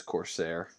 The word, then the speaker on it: corsair: Oh, it is Corsair.